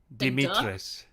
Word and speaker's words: Dimitrescu: okay yeah yeah yeah say that again dimitris yeah exactly duh and then me and then tresk beautiful marcus was the